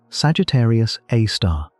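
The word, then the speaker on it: Sagittarius A*: At the exact center of the Milky Way sits an object called Sagittarius A, pronounced Sagittarius A star.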